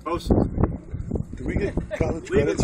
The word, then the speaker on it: boatswain: Pronounced boatswain.